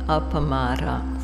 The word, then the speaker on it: appamāda: this so there's a word in pali apamada four syllables and what this means